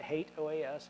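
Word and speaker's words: HATEOAS: engine of application state I know some of you may pronounce that differently you're pronouncing it wrong I'll just tell you that now as someone who's worked with the product in the past called OAS I can tell you that hate OAS is the right pronunciation the hal browser which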